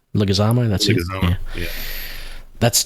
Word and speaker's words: Leguizamo: Theron, John Bernthal, Ryan Hurst, John, I can't pronounce his last name, Leguizamo. That's Leguizamo.